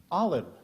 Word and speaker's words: Alim: Alim.